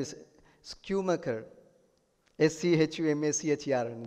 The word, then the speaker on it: Schumacher: His name is Schumacher. S-C-H-U-M-A-C-H-E-R, and it's difficult to pronounce any.